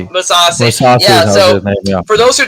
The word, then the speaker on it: Mousasi: Austin Vanderford lost to what's his name, Greg Mousasi. How do I say his name? Musasi.